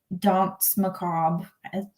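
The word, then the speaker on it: Danse Macabre: And he said the Dance Macabre, that's how you say it.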